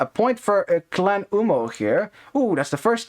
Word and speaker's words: UMMO: know, if I haven't, UMMO, 1 M, but there's 2 M's. No. I can't, I'm too Dutch. I have to pronounce it as UMMO. Double M means, Short foul.